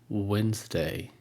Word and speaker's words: Wednesday: for women family family Wednesday Wednesday we drop the D and we pronounced the